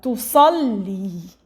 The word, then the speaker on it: تصلي: So we pronounce the lam twice. Lam with the sukun, the first. The second, lam with kasra. Tusalli.